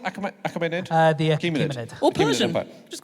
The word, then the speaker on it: Achaemenid: How's it pronounced? Achaemenid? The Achaemenid.